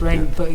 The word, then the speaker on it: Reine Beau: Yes, it's Reine Beau. That's pronounced Beau, Beau, so right, it's okay. a play on rainbow.